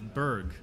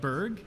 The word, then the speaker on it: Berg: Another company that I'm friendly with is Berg. It's Matt Webb and Jack Schultz's company. How do you spell that? Berg, B-E-R-G.